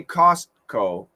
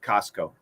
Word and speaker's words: Costco: service when you pronounce costco is the t silent usually engine usually you could say costco with a stop t but when we say it fast we cancel the t costco so don't worry we